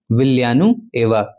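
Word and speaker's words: Villanueva: जैसा साउंड आता है, ये जो आपको डबल एल दिख रहा है, तो इसका प्रोनाउंसिएशन होता है विलियानु एवा, ठीक है।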